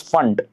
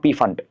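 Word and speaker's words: Pfund: series fun series okay P silent here you pronounce it as fun not P fun okay and you know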